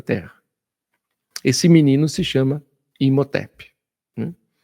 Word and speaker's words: Imhotep: Então, Imotep ou lá, se a gente for da pronúncia correta, inhotep, né? Por causa do da língua gutural, né? a gente fala em Motep que fica mais fácil.